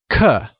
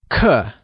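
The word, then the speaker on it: 刻: is translated as cut cut is pronounced using a falling tone let's hear you say CUH CUH great here's a grammar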